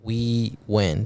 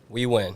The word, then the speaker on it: Huy Nguyen: We're here with Huy Nguyen and our special guest here, Huy Nguyen. Did I say it right? Yes, sir. All right, how you doing, bro? I'm doing good. Say it one more time again. Huy Nguyen.